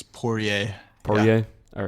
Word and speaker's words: Poirier: and Vincent Poirier Poirier I don't know how to pronounce his last name I think it's poor yay oh yeah all right